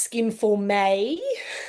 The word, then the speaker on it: Skin Forme: So just so you know, moving forward, it's pronounced Skin Forme.